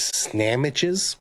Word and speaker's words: Snamitches: He is his name is Snamitches, and I didn't butcher that name. That's how it's pronounced.